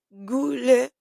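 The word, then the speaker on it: Gullveig: Era Gulevei, perdón, gulve. Se escribe gulve. G U W L V corta E I G y se pronuncia, estoy tratando de darlo mejor aquí, Guleve. Sí. Eh, bien. Gulevey, esta misteriosa mujer Gulevey,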